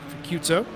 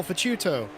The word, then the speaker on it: Faciuto: Chew like Pikachu. Faciuto. Oh, Faciuto. All right.